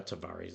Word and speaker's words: Tavares: Not quite sure how to pronounce that. I think it's Tavares. It's not the Tavares, it's Tavares.